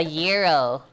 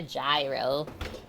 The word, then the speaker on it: gyro: either or sorry yeah a Euro sorry I said it wrong and I learned about this like the first year I was streaming not a gyro I only say that